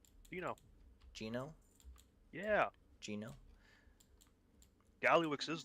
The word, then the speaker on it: Gino: Spell it out. G I N O. Gino.